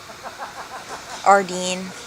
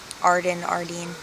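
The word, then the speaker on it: Ardene: It's officially pronounced Ardeen. Okay. Ardeen.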